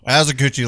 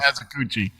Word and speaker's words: Asakuchi: Whoa, Azakuchi, like Chillicoochee? No, Like no, a native. Asakuchi. That's how it's spelled.